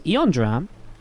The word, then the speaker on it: Eondram: This time to Eondram. Welcome Eondram to the Wardy fam. How you doing? Your name rhymes with fam, so it's even better for me to say welcome to the fam.